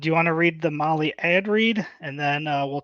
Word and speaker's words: Mahle: And for the podcast listeners, Molly is spelled Mahle.